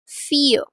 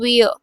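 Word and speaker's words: vier: फियर फियर means for फियर इट्स नॉट वियर इट्स फियर then we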